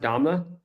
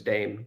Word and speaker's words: Sarr: Wait, his name is pronounced Dama. Dam. I was operating under the assumption it was Dame the entire time.